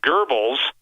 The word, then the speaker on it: Goebbels: really critical remember this that goebbels or some people pronounce like devils but i pronounce the gurbals o e with the umlauts uh and i'm probably killing the germans so i apologize but